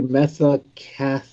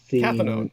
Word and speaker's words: cathinone: AKA methacathone. Cathinone.